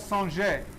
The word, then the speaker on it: singer: go ahead and stir the technique is called sanjay and it's spelled singer s-i-n-g-e-r and what we are doing